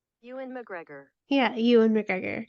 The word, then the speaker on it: Ewan McGregor: you and McGregor yeah you and McGregor Ewan McGregor okay so I've been pronouncing his name wrong for like ever um I don't know